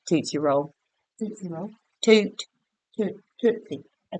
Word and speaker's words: Tootsie Roll: It's toot. Like a tooth come out your butt.